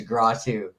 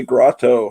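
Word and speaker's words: Grottu: think everyone here knows your name is gratu don't they no usually i hear people say grotto hey grotto well they're just pronouncing it wrong there is yeah that's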